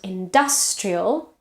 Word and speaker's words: industrial: Industry, so there is a schwa in the second syllable, and industrial, the vowel changes because now it's stressed.